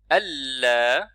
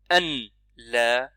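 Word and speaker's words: ألا: Ashhadu alla. Donc il est préférable de dire alla. Ne pas prononcer noun, ça va directement sur lam. C'est comme ça que les Arabes prononcent en réalité.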